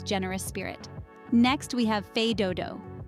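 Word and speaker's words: fais do-do: Spirit next we have fed Doo pronounced fed Doo the phrase translates to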